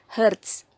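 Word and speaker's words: hertz: itu ya frekuensi itu satunya adalah Heart disingkat jadi Hz tapi dibacanya Heart waktu satu ada seperti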